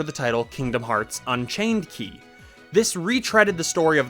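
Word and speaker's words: χ: Game number 8 is actually a collection of titles known as the Key Saga. Most commonly pronounced Key, although Kai and Chi are also acceptable, but people might look at you weird.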